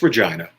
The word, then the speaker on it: Regina: No, it's Regina.